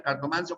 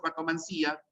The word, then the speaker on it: cartomancia: Puede ser quiromancia, quiromancía, cartomancia o cartomancía, nigromancia o nigromancía, pero se prefiere la terminación sin tilde, ¿no? Quiromancia, cartomancia, que es como pronunciamos nosotros.